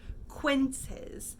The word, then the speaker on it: quinces: So we pronounce that quinces.